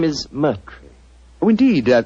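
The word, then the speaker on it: Murtry: you Doctor uh my name my name is Merry Oh indeed spelled m u r t r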